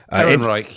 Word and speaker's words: Ehrenreich: Ehrenreich. Ehrenreich. Is that it? I had to spell it out phonetically. Ehrenreich, yeah. Yeah, that's good.